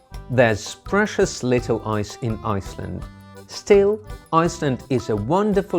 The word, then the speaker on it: Iceland: a problem letter i iceland by definition is meant to be the land of eyes ironically there's precious little ice in Iceland still Iceland is a